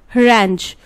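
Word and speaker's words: harangue: और हरांच, हरांच का मतलब होता है भाषण, ठीक है, और इसकी स्पेलिंग इनकरेक्ट है because it इज H A R A N G U E, हरांच, ठीक है।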